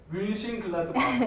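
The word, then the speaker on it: Mönchengladbach: 그렇게 표기법이 됐기 때문에 멘헨글라드바흐라고 우리나라에서는 표기를 하지만은 실제 독일에서는 뮌헨글라드바흐 이런 식으로. 저 다시 한번 크게. 뮌헨글라드바흐.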